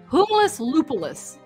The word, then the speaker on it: Humulus lupulus: And the interesting thing is that I found with hops, it's the scientific name is humulus lupulus.